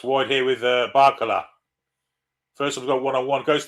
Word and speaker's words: Barcola: I imagine it'll be Barcola. Indeed it is. He played like fucking roller cola today. Christ. My mum's cola. Rhymes with polar.